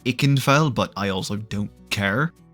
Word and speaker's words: Ikenfell: comments are feeling very V indicated right now I canfell I know it's pronounced ikenfell but I also don't care was actually recommended